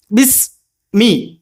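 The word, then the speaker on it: بِسْمِ: പറയുമ്പോൾ എന്ത് ചെയ്യണം അസ് പുറത്ത് കേൾക്കണം ബിസ് ബിസ് ബിസ് മീ മീ ഒന്ന് തെറ്റാറ മീ പറയുമ്പോൾ എന്ത് ചെയ്യണം രണ്ട്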